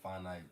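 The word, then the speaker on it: whānau: So, so I'm farno'd to a lot of Kiwis over here. Yeah, farno. Yeah. Farno. So, your wh is always the f pronunciation.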